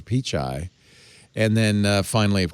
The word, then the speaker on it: Pichai: as a republican congressman called him mr peach eye he how can you not how can you not know who's sundar pichai and how to say his name that's just rude that's poor briefing on the part of the staff mr peach mr pichai and then uh finally